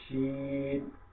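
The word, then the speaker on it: شين: তালে বর্ষ, তালে এই যে শিন যেটা, যেটার উপরে তিনটা ফোঁটা দেখতে পাচ্ছেন, এই ফোঁটাওয়ালা শিন যেটা, এটা আমরা কি করবো? এই তালে বর্ষ দিয়ে আমরা এটা উচ্চারণ করবো, শিন।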